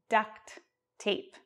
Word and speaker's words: duct tape: way I pronounce it we don't really use the T in duct tape because they run together so it's just like